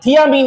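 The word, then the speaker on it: thiamine: कई किताबें और कई मार साहब भी इसको थाइमीन बोलते हैं, लेकिन थाइमीन एक सही प्रोनाउंसिएशन नहीं है, थियामीन इसका है।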